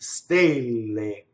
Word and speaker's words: stelle: what is its close the word for stars the a is closed right stay lame ok so next the